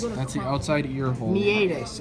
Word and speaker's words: meatus: Meatus, actually. Outside ear hole. Meatus, because that's It's how it's spelled. meatus, you said. Meatus is spelled wrong. Yeah, but meatus is how it's said.